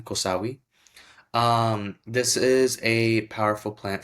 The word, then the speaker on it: Cosahui: The next plant is Cosahui. It's spelled differently in Hyaki, but it is pronounced the same, Cosahui.